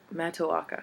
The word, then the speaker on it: Matoaka: But I like, how do I pronounce that again? Matoaka.